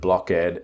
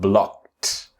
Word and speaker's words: blocked: Now again the pronunciation is blocked and if you are pronouncing the word blockad and you need to debug the pronunciation remember step one step two step one is say the word in present block and then add the t sound blocked blocked.